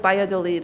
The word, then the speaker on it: Valladolid: But it's spelled like Valladolid, but it's like Valladolid or something like that.